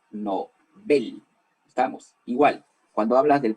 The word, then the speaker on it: Nobel: él no se dice nobel q ya no se dice nobel se dice no ven estamos igual cuando hablas